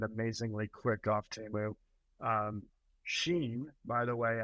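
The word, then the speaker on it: Shein: Um, Sheen, by the way, I I pronounce it Sheen because I envision Steam would shop at at Sheen, you know.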